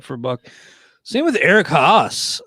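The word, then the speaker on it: Haase: buck same with eric haas i've mispronounced his name before but i'm looking at baseball reference right now and it is h-o-s-s is the pronunciation which is perfect because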